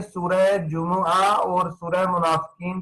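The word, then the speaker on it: جمعة: असल इसका प्रोनाउंसिएशन क्या है? जुमुआ, अरबी में अल जुमुआ।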